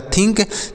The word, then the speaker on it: think: अगला THINK, तो TS से होता है थौ, आई से छोटी ई की मात्रा, N से आधा नौ, और K सिक्को, यह हो गया थिंक।